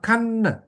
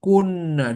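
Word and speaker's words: كنّا: Nah, sekarang dibacanya bukan kan, tapi kunna.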